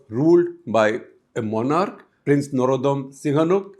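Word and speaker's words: Norodom Sihanouk: by a monarch prince Norodam Singhanuk. In India you would say Narotam Singhanuk. In fact on India radio Akashwani used to pronounce his name as Narotam Singhanuk.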